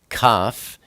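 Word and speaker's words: כף: Kaf is the number 20, and it's pronounced K, like kind.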